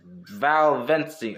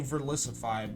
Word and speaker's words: Verlisify: this Valvency is, well, he was actually trying to say Verlisify, but he pronounced it wrong.